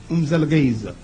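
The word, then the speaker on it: Mzilikazi: You have to say it fast or you will say it wrong. Umzelgeza.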